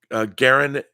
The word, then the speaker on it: Garin: that uh-oh Aaron okay Garin says my name is pronounced like Aaron with a G Garin okay don't worry